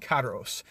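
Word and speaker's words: Karous: Okay, you got Chaos Field, you got Rattergy or Radio Allergy, you got Karos, I guess that's how you pronounce that, Karos, K-A-R-O-U-S, Illmatic Envelope, and Rattergy Noah.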